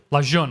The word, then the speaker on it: Lejeune: Luzerne I don't know how to pronounce to spell that but that's how that's phonetic la jeune okay Camp Lejeune small bases in Alaska San Francisco Long Beach